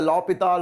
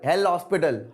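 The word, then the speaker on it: L'Hôpital: l'hopital rule okay so we call it the lopital or hell hospital however you guys want to pronounce it you can do it but it is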